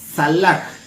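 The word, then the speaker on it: צלח: Esa palabra prosperar en el hebreo es salach y se escribe T S A L A K y J.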